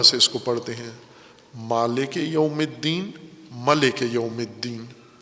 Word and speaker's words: مالک: فقہا جس کے جواز پر مطمئن ہے وہ مالک ہے، کہ مالک یوم الدین پڑھیں، ملک نہ